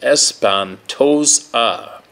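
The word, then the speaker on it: Espantosa: those River bottoms namely around espentosa Lake pronounced espantos ah in Dimmitt County Texas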